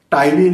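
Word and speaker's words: ptyalin: Tyline is secreted by here, that is also called as amylase. Say spelling you may read out P, but P is silent.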